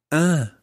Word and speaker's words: un: un frère, And it's got a slight nasal sound to it. Un, un, un, un, un frère. un frère, Okay. So a brother is un frère.